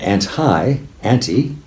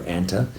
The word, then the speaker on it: anti: And anti, often pronounced anti or anta, is against, as in antipathy or antisocial.